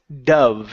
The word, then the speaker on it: dove: right here this word is dove instead of Dove okay this is dove so we have the verb which is he dove into the water but this this is the bird the bird is pronounced with an H sound Dove spelled exactly the same Dove okay good uh